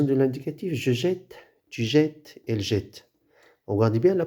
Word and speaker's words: jette: doit doubler la consonne, On prononce E comme s'il y a un accent. Alors, E plus de consonne, il n'y a pas l'accent, mais il se prononce comme s'il y a un accent sous-entendu.